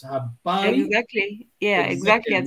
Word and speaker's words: Habari: You pronounce it exactly. So it's Habari.